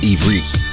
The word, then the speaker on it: Ivrit: Because the word Hebrew is actually not Hebrew, but an English word for the descendants of Abraham. The true pronunciation is Ivrit.